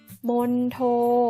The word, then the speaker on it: มณโฑ: อีก รอบ นะ คะ สรุป แล้ว คำ ที่ มี ตัว ทองมณโฑ จะ ออก เสียง ได้ 2 แบบ นะ คะ คือ 1 ออก เสียง เหมือน มี เด็ก เช่น คำ ว่า บัณฑิต มี มณฑป บัณเฑาะว์ ค่ะ และ บัณฑุ ค่ะ ส่วน ใด ที่ 2 ออก เสียง เหมือน ทรหาร เช่น คำ ว่า มณโฑ และ มณฑล มณฑา ถ้า คุณ คีย์ ทัณฑสถาน จัณฑาล